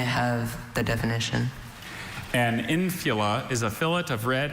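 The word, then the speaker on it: infula: Infila. Infila. May I have the definition? An infila is a fillet of red and white wool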